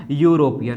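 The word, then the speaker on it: European: तो यहाँ पर भी आप इसको प्रोनाउंसिएशन करेंगे या वोकल साउंड चेक करेंगे तो क्या निकलेगा, यूरोपियन, है ना, क्या निकलेगा, यूरोपियन। ठीक, यूरोपियन निकलेगा प्यारे बच्चे।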